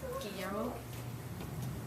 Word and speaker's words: Guillermo: I don't think you pronounce the L's. I think it's a Y. It's a 2L. Guillermo.